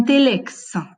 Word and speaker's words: telex: Donc, un telex, est-ce qu'on prononce le X à la fin ou pas? Si, bien évidemment. Donc, il est dans la liste A.